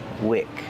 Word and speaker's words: wick: So that's weak, and this is wick. Different pronunciation. Use the short is sound like this is. This is a wick.